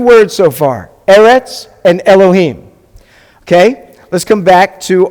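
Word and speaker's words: אלהים: So you read this word Elohim. It's not pronounced Elohim. It's Elohim. So Elohim is the Hebrew word for God.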